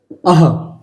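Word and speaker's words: अः: अ के बाद अगर आप ये दो बिंदी देखते हैं ऊपर नीचे तो इसको ही आप ध्वनि निकालेंगे अह। अ का उच्चारण करेंगे और उसके बाद अंदर से ह की आवाज निकालेंगे अह।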